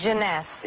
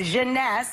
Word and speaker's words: Jeunesse: How do you pronounce this? Jeunesse. Jeunesse.